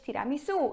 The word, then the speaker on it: tiramisu: Wingardium Leviosa mówimy leviosa tiramisu Akcent jest na końcu słowa mówiłam kiedyś tiramisu Bo to jest tak jakbyśmy powiedzieli to po polsku po prostu ale we Włoszech będziecie słyszeć tiramisu i na tym słowie jest też akcent na końcu co więcej to słowo